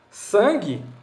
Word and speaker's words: sangue: dígrafo consonantal ficou claro sangue um não tem som no grupo g u mas porque são